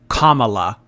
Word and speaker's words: Kamala: Harris and I Kamala isn't it pronounced Kamala Kamala Cala yeah like cuum it's comma Amber commala commala honestly this is